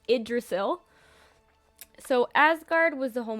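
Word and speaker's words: Yggdrasil: is a weird spelling but that word is pronounced idrisil so Asgard was the home of the Gods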